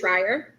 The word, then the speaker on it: Schreier: It's Schreier. Okay. Like I I was always say trying. it's dryer, but you drop the duh and add the sh.